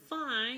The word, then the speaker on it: fine: And then fine, you look at this, that is like exactly the English word fine, how it's spelled. So fine means, this is an Italian word too, so we call it fin.